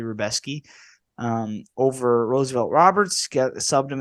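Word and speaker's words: Rębecki: Mateusz Rebeski, I believe is how it's pronounced. It looks like Rebecki, but it's actually Rebeski.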